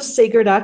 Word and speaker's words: Seger: my website is Sager Tom just think of Bob Seger it's spelled the same way but pronounced slightly different and my email is